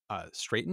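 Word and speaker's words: Straiton: The episode was written by co-producer Mike Sussman and directed by David Straten. Is that how you say his name? Yep. Straten.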